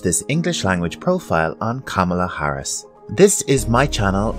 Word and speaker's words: Kamala: A lot of people are having difficulty with pronouncing her name. It's actually quite easy. Kamala. Kamala. Repeat after me. Kamala.